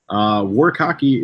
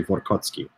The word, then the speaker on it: Warkocki: Warkocki is the correct pronunciation. Unless you're Polish, then you'd say Warkocki.